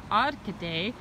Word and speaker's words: Arcade: how actually it spelled arcade but it's actually pronounced odd today and as you see here this is a